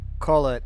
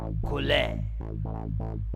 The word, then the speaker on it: collet: which I would believe would be pronounced Collet. However, according to the internet pronunciation thing, it's Colette.